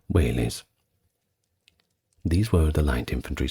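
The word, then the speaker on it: velites: now don't get confused that is spelled with a V at the start if you are going to look it up but is pronounced wh days or singular whes these were the light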